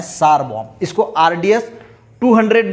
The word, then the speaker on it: tsar: तो ये जो सार बॉम्ब है, इसको सार लिखा जाता है, पर हम इसको प्रोनाउंसिएशन सार बॉम्ब करते हैं।